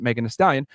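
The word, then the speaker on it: Megan Thee Stallion: 1995 known professionally as Megan and the stallion pronounced Megan the stallion it's an American uh rapper and songwriter originally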